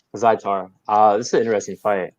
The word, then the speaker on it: Azaitar: So next fight we have Kama Worthy versus, how do you pronounce this guy's last name? Ottoman Azaitar. Azaitar.